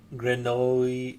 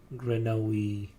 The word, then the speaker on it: grenouille: I was like, yeah, Granoli. It's like they say Granoli or something, right? Like Granoli. Um, Granoli for frog in French. Grenouille.